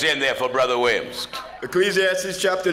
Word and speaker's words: Ecclesiastes: ask J I have eclesiastes chapter you have Ecclesiastes that's right you said it right you said